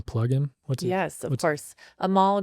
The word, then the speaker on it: Anmol: Amal, and that's ANMOL, the N is silent, and then with Goosehead Insurance.